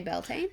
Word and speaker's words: Beltane: one or that one so how would you pronounce that Belton you would just say Beltane yeah I think you